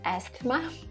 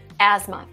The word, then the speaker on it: asthma: by the way in in the asthma case you might be confused because they have th there and you're like asthma asthma no asthma so in this case we have silent t and cell and h asthma don't try to soften